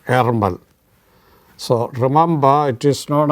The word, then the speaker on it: Ärmel: Erger, a kind of A and E together. Erger or Ermel.